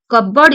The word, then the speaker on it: cupboard: Which letter in the word cupboard is not pronounced? Cupboard. ଆପଣଙ୍କର cupboard. P ଟା ଆସୁନି. P ଟା pronounced ହଉନି.